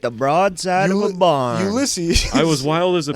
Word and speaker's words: Ulysses: I think of Ulysses S.